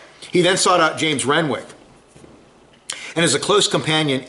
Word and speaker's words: Renwick: And I've heard it's pronounced Renwick, so I've been pronouncing it wrong for 2 weeks. It's Renwick.